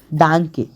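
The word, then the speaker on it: Danke: होता है थैंक यू को बोलते हैं हम डांके डांके कोई पहली बार सुनेगा जिसे ना आता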